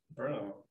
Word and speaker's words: Brno: I received his MS degree in mechanical engineering from Brno, how do you pronounce it? Brno.